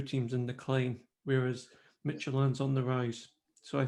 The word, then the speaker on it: Midtjylland: I've just found out it's pronounced Midtjylland. Midtjylland. Not Midtjylland.